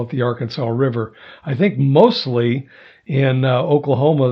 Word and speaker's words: Arkansas: The Arkansas River, or Arkansas River, depends on where you're from, how you pronounce it. In Arkansas, they call it the Arkansas River.